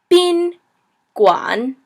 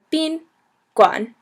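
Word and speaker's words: 宾馆: word for hotel it's B Guan like where have you been and then Guan so goo on like goo like slimy and then on bean Guan and the next one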